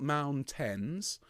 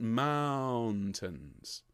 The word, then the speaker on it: mountains: as i did there we want an ow on the first syllable mountain okay it's not mount tens i want mountains okay mountains so the second syllable is quieter and slightly softer so let's go from